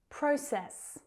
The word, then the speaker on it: process: Process, process. That first syllable is stronger.